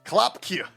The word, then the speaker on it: Klopque: And how are we going to pronounce that for the next 5 months? Klopkje. Klopkje. Klopkje. All right. Because we got a horse, so you get the clop, clop, clop in there.